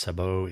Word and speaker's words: sabot: the use of a sabot or sabot. Probably both pronunciations are common. Sabot, S-A-B-O-T, pronounced sabot, is a shoe or some other thing.